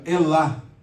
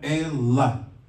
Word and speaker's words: Elá: brincadeira né então aqui ó elá tá em hebraico elá Nemo sílaba tônica a última esse tracinho aqui no final dizendo que essa aqui é a sílaba tônica tá então é ela então aí a versão